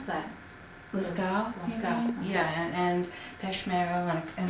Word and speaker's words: Lascaux: How do you pronounce that? Lascaux, Okay.